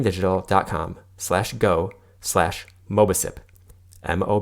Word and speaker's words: Mobicip: settings as necessary you can learn more about mobile sip which is spelled mo B I see IP at defending digital calm slash go slash MOBA sip mo B I see IP and I hope